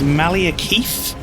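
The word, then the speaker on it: Maliketh: oh just for pronunciation i think it's malia keith i don't want to call him keith that just makes me think of keith chegwin there's no eye in it though that's five four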